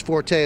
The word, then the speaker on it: forte: Because I believe the correct pronunciation is fort, but no one pronounces it that way. I think it's forte. That's the way I'll go with it.